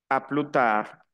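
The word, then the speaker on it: à plus tard: que no ap plutar a la s final no se pronuncia Aquí no aquí digo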